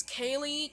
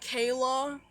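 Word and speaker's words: Kayle: But then someone would pronounce it like Kayla when there's clearly not an A at the end of my name. Or, you know, someone even pronounced it as Katie one time.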